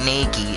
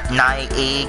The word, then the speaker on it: Naegi: Because the way it's spelled, Naegi, because it sounds like there's an I, but it's Naegi.